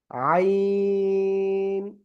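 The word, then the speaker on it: ع: এই অক্ষরের নাম আইন। গলাটা চেপে আপনি 4 আলিফ টানিয়ে উচ্চারণ করবেন, 4 আলিফ, আইন। সবাই জোরে জোরে পড়েন, জোরে জোরে পড়েন।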